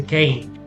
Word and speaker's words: came: So for example here, the A is gonna be pronounced long because of this silent E. So we don't say come or kame, we say came.